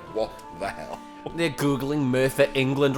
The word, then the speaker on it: Merthyr: It's spelled Cum is no, cum is M-U-R-T-H-U-R. Merthyr. That's how Americans would spell it.